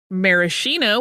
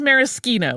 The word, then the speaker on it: Maraschino: on the pronunciation of Maraschino which is how we say it in the U.S versus Maraschino which is how it really is said in Italy here is a distinguisher